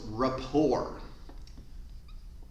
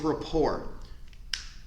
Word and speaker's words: rapport: very important it builds rapport and the T is silent that's how you spell it report it builds rapport rapport is a fancy